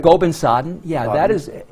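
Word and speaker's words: Gobind Sadan: Gobin-Sadan, am I saying it right? Gobin-Sadan, Gobin-Sadan is in Hastings, Palermo.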